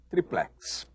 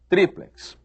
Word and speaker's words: tríplex: mundo diz duplex e todo mundo diz triplex quem é que tem razão oficialmente tem razão o dicionário ou os dicionários eles ensinam que quá quer dizer talvez ensinam que a pronúncia correta é látex e ensinam que a pronúncia correta é duple tríplex e agora você escolhe